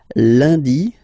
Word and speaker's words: lundi: And in France, the week starts with lundi, Monday, lundi, lundi. Okay, remember, UN is pronounced like un, lundi, lundi, lundi.